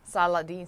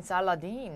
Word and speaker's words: Saladin: Saladin, Saladin. Okay, Saladin. 다시 한번. Saladin. Saladin. Okay. Saladin sounds like Aladdin.